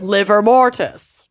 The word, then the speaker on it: livor mortis: Is liver mortis. Livor. Livor mortis, but it is just pronounced I know.